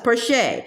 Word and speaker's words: Porcher: I'm Porcher. She pronounced it the French way, Porcher.